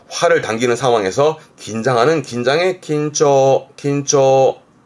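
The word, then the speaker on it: 緊張: 지금처럼 활을 당기는 상황에서 긴장하는 긴장의 긴초, 긴초. 앞 글자가 과자라 자랑할 과자, 과시하는 과자라서 과장하는, 발음은 고초, 고초.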